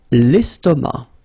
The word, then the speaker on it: estomac: L'estomac. L'estomac. Okay, same thing here, final C not pronounced, and then M means that this word, estomac, is masculine.